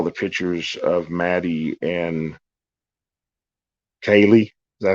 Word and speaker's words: Kaylee: There's a possibility that I've always thought when I saw the pictures of Maddie and Kaylee, is that how you say it? Yeah, Kaylee.